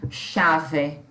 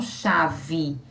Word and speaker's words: chave: Nós temos o A, o V, que corresponde à letra V, e o E, que nessa posição nós pronunciamos I. Ninguém fala chave. As pessoas falam chave.